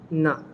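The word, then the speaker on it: ন: All of these are pronounced from your teeth. So your tongue is touching your teeth uh when you're pronouncing them.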